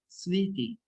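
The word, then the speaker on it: smṛti: see that uh smoothie actually the original pronunciation pronunciation is that sweetie because it's Sanskrit term the city is developed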